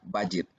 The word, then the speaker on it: budget: Jadi huruf D ini dianggap tidak ada. Seperti dengan kata budget. Jadi kita bacanya bukan budget, no, that's not the way we pronounce it. Kita bilang budget.